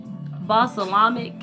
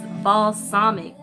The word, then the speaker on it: balsamic: call she call it basalamic and the twins one of the twins just thought it was so funny and she was like no it is balsamic balsamic that's how you say it it was funny to